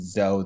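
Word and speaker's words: Tsou: It's It's pronounced different way. I think you we should go with Zo though, just to make clear.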